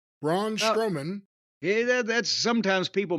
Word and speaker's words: Braun Strowman: Jacob Fatu, and his opponent, by the way, was Braun Strongman. Braun Strowman. Yeah, that's sometimes people mispronounce it that way.